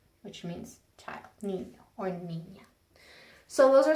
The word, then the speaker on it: niño: we went over that, it's pronounced like the NY in the word canyon. An example of a word that has that is niño, which means child, niño or niña.